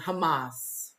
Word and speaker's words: Hamas: is Israel and and Hamas I've been saying it wrong I've been saying humus like the H the food like Trump said it